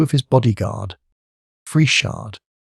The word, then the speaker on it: Friesshardt: 2 of his bodyguard, Frieshard. I should think you would be safe in pronouncing this Fries hard. But you had better ask somebody who knows, and Leuthold, to keep